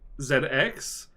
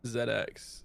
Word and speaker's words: ZX: In the show he does say Zed Cross, I believe, but but that's his kind of like but that's his kind of um his like hension thing.